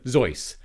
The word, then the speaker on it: Zoidberg: Zoidberg. And yes, that is how you pronounce it.